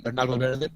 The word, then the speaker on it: Bernal Valverde: Bernal Valverde is Bernal Valverde, pronounced in Spanish, is a professional driver from Costa Rica.